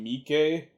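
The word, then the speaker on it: Miike: or alive it's takashi maike film uh i hope i'm pronouncing that right kashimiki it might just be takashi mikey i think i've heard it both ways on that one uh takashi maike known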